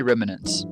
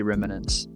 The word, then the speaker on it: remnants: I say remnants. So Google says remnants. I've never heard anybody in America say remnants. I say remnants. We just add like an A in between the M and the N.